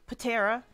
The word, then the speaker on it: Patera: Yes, it is pronounced Patera, not just Terra, Patera.